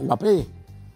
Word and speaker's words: Mbappé: No sé por qué le dice Mbappé. Mbappé, con acento en la E.